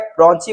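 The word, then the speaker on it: ब्रोंकाई: तो ब्रोंची का काम क्या है, ब्रोंची बोलो या क्या बोल सकते हैं, ब्रोंकी बोलो, अपना अपना प्रोनाउंसिएशन देख लेना भाई।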